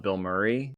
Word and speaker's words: Bilmuri: There's a band called Bill Murray. It's not the actor Bill Murray, but it's spelled Bilmuri, and they have they do